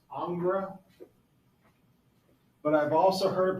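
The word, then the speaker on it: Ingres: picture over here okay our next artist is angra it's spelled i n g re s that's the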